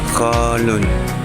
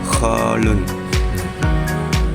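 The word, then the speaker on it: خال: Bahasa Arabnya kholun pakai ko bukan ha bacanya kholun.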